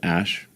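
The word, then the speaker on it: Æ: Um and then the AE is like pronounced ash.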